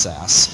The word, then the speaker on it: Sass: as SAS um so the old syntax used the extension S A and was pronounced SAS and then the newer